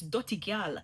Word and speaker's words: dutty gyal: Yeah, it's dutty gyal. That one sound more authentic, and when your Jamaican